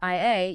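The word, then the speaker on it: 愛: In Japanese, the phonetic word for love is pronounced I.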